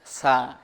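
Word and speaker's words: ث: সার একটা মাখরাজ আছে, সা জিহুবার আগা থেকে নরমভাবে আদায় হবে।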